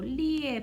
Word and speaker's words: 列: 요 리의 발음 조심.